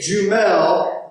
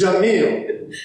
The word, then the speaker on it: Jamil: How have you not reached across the table and slapped me upside the head for saying Jumel when it's Jamil?